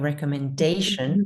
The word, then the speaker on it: recommendation: Then we have recommendation, right? That's going to switch to gray.